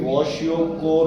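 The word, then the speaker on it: kwashiorkor: अब क्या हुआ, ये 2 तरह की बीमारी है, क्वाशियोकोर और मेरास्मस। ठीक है, इसको कुछ भी प्रोनाउंस करो, वैसे तो ये वॉशियोकोर होता है, बाकी तुम जैसे इसको करो।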